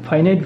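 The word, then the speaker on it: finite: তো তার main types দুটো হচ্ছে, একটা হচ্ছে ফাইনাইট ভার্ব, FINIT, একটা হচ্ছে ফাইনাইট ভার্ব, আর একটা হচ্ছে নন ফাইনাইট ভার্ব। অনেকে আবার ফিনিট উচ্চারণ করে, ফিনিট নন ফিনিট। সো আপনারা উচ্চারণ করুন ফাইনাইট নন ফাইনাইট, রাইট?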